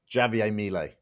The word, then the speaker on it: Javier Milei: We did a video, and the title, the thumbnail was, "Who is Australia's Javier Milei?" Did I pronounce his name right? You tell me. Javier, you got to roll the J.